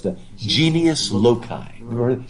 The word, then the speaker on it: genius loci: It's the genius loci. Never heard it? Genius, just like it's spelled in English, and L-O-C-I.